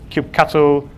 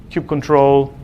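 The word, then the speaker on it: kubectl: to record cube CTL which everyone pronounced with a different name keep cattle queue control I say cube CTL and then we say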